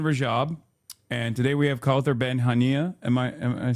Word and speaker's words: Kauthar Ben Hania: And today we have Kauthar Ben Hania.